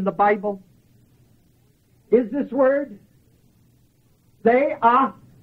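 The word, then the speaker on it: θεάομαι: The second usage of the word beholding in the Bible is this word, theaomai. Theaomai. Theaomai. And that Greek word is spelled T-H-E-A-O-M-A-I.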